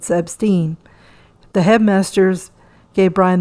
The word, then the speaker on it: Epstein: time telling the boys how to pronounce his last name it is not Epstein it Epstein the head Masters gave